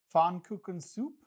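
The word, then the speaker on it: Pfannkuchensuppe: I'm going to attempt the German pronunciation. Fon cook soup.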